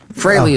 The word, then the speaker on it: Frehley: Ace Fraley freely admits that fraly is the proper pronunciation Oh! It's fray-ly?